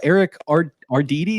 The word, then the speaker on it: Eric Arditti: It is Mr. Eric Arditti. Is that how you say it? You nailed it, and it's very rarely nailed like that.